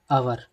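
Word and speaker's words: hour: होता है जैसे एन अवर ठीक है जोसे हमारा एच है इसमें यह लोग दोस्तों क्या है साइलेंट है ठीक है जैसे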